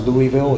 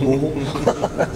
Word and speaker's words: Louisville: It's not Louisville, it's Louisville.